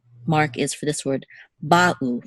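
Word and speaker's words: בָּאוּ: We don't want to say ba'u, we want to say ba'u. There should be a distinct pause between the two syllables, ba'u, not ba'u. They should not flow together, the two syllables. They should be distinct, ba'u.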